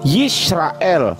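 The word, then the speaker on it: ישראל: ini Pak Israeli bahasa aslinya adalah yisrael Kenapa bahasa asli nya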